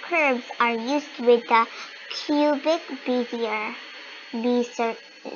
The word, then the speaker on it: Bezier: Learn how Bezier curves work.